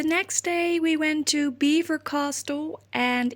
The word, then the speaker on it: Belvoir: to Belvoir Castle, and if you're French you will be mad with me for pronouncing it Belvoir, but it is Belvoir Castle, and the English didn't really know how to pronounce it right, and so right now these days it is called Belvoir Castle.